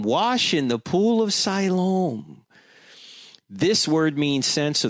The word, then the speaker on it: Siloam: Siloam, or you could, there are many different ways of pronouncing it. I pronounce it Siloam, however you want to pronounce it.